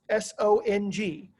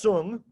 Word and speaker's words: Song: study guide it says s-o-n-g looks like song to us it's pronounced sung if you mispronounce it